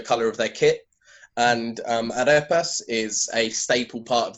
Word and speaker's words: Arepas: I mean, as the title of the book says, it's called Red Wine and Arepas. Is that, I mean, how I should pronounce it correctly?